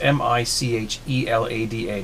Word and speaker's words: michelada: It's, you know, Michelada, as I think that's how it's pronounced.